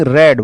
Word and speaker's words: read: है ना is being रेड verb की थर्ड फॉर्म है रीड की तीनों फॉर्म एक जैसी होते है रीड रेड रेड meaning spelling same होता है प्रोनंसिएशन अलग होता है ठीक है नेक्स्ट डू